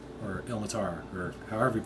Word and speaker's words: Ilmater: Chuck is a half-orc paladin of Ilmater, or Hilmatar, or however you pronounce it. Exactly. Ilmater.